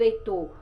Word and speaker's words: Heitor: Então, por exemplo, com que letra eu escrevo Heitor lá no nome, não palavra, né? Com H. E o nome do Henrique com H. Você já pode até trabalhar com eles que o H ele é mudo, né?